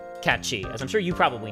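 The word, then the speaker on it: Cait Sith: The name's Catchy or Kate Sith as everybody incorrectly pronounced it when they played it in the '90s. And as they kept the pronunciation in the English dub, cuz that's what everybody calls him anyway. Even though the correct pronunciation of this is Katchi, as I'm sure you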